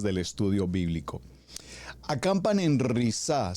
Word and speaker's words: Risa: Acampan en risá se escribe, lo voy a delitrear, r i s a como risa, pero con doble s.